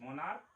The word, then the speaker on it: monarch: MONARCH, मोनार, यहाँ पर क है इसका उच्चारण, इसीलिए इसमें केवल S लगेगा।